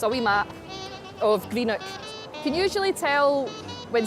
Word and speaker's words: Greenock: It's a wee map of Greenock.